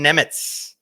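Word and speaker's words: Němec: I had to look up how to pronounce this man's name because I wanted to do it properly. Szymon Nemec.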